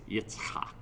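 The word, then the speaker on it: יצחק: Well, that's from Isaac's son, which is nonsense, because the Hebrew pronunciation of the name Isaac is not Isaac, it's Yitzchak.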